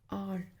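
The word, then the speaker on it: hour: आर, इसमें वही आ गया, एच साइलेंट है तो वाउल की साउंड आ रही है, आर, एन आर।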